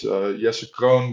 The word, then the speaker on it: Jesse Kroon: My name is Jesse Kroon, but it's spelled J-E-S-S-E-K-R-O-O-N. It's a Dutch name, so it's a bit complicated, but happy to talk.